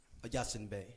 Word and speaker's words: Yasin Bey: Yasin Bey.